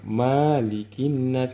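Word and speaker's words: مَلِكِ النَّاسِ: Jadi kalau di Al-Fatihah memang ma-nya dipanjangkan, namun kalau di surah An-Nas ini ma-nya ini kita pendekkan membacanya malikin nas.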